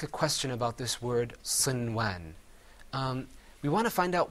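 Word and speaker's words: صنوان: That first word is pronounced sinwan.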